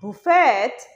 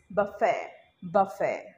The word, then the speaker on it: buffet: This word is not buffet, but it is buffet.